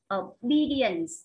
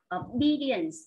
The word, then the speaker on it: obedience: A, ta đọc obedience, obedience. Lúc này trọng âm nó rơi vào âm thứ 2 nhé các bạn.